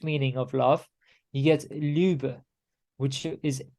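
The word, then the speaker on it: leubh: Proto proto-indo-european root meaning of love you get lube which is spelled l-e-u-b-h um and uh it forms all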